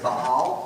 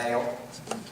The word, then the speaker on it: Baal: b a a l if you want to pronounce it super straight it's Bal but we're in the South so I say baale um when they started worshiping him it was